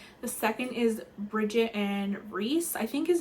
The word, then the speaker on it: Reese: And so I watched a couple of videos and people were pronouncing it Reese, so I think that's how you say it.